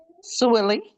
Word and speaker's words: Swilly: Um, Miss uh Swilly, hope am I saying your name wrong? Right, ma'am? Swilly. Swilly. I was all wrong. All right. Willy with an S in front of it.